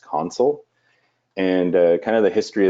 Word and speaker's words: Consul: and specifically what is console which is actually pronounced console and kind of the history of the name